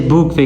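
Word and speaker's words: bouquet: जो फ्लावर्स का ग्रुप होता है यानी जो हम फ्लावर्स को इकट्ठा करते हैं उसे बुक वे कहते हैं, टी साइलेंट है, ठीक है।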